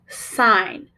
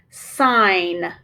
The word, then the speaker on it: sign: Listen for the long I in this word sign. Watch as I prove the word. First, I will mark the vowel. Then I will mark the GN digraph. Remember that the G in the digraph is silent, so I will mark it silent.